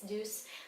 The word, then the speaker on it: Douce: It's not Douce, it's Douce, like Douce's.